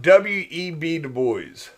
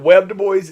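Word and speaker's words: W. E. B. Du Bois: a problem all right so let's talk about w.e.b du bois uh that is how you pronounce that it's not webbed boys it's w.e.v du bois he is the first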